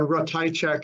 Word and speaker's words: Ratajczak: So again, Ratajczak is how we pronounce our name here.